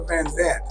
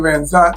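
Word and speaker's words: Vanzant: Some people pronounce it Yolanda Van Zandt. You saying Van Zant, so we covered it on both sides.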